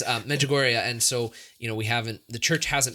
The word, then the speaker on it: Medjugorje: Margigori, right? Medjugorje. I can't pronounce it. That's why he's correct. Because we're in America, so it's a Medjugorje. No, it's Medjugorje.